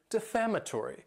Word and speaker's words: defamatory: Next is the word defamatory. And this word has 5 syllables, and the stress is on that second syllable.